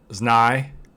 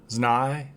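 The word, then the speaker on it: Знай: all right so that was no or i believe it's pronounced znai zhnai yeah i think so uh all right so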